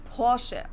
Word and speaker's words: Porsche: In German, we say Porsche. So there's like this short E sound in the end.